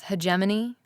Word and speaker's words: hegemony: becoming a hman hedony I never know how pronounce it it's hegemony I think yeah sounds like a